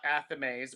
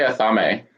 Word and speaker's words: athame: and we're talking about athames or how do you say it chris i say athame and i say athame and both are correct so just don't say